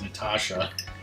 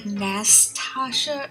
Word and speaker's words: Nastasia: just assumed it was Natasha. Yeah, it's like Nastasha. Like there's an extra S. Like nasty. There you go. Is it Nastasia? Nastasia? Yeah, like Nastasha or Nastasia or.